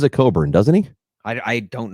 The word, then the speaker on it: Cockburn: think he pronounces it coburn doesn't he i i don't know i think he pronounces it coburn is it um but it's pernic but it's spelled cockburn yeah okay like the [